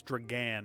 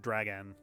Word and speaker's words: Dragan: It's Dragan, not Dragon.